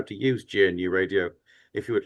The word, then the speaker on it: GNU: One website uh quoted one of the early pioneers of GNU radio that he liked GNU for the first word to be pronounced as if it was kind of new but different.